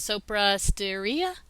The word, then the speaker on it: Sopra Steria: Management Institute, Foundation Medicine, correct me on the pronunciation of this, Sopra Steria?